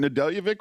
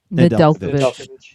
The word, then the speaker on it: Nedeljkovic: Am I not pronouncing Nedeljevic right or something? Nedeljkovic. Nedeljkovic. Oh, I'm using the Eastern European pronunciation.